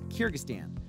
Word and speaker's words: Kyrgyzstan: and immediately thought wait what i can't even pronounce its name before you asks it's kyrgyzstan believe it or not it's easy to see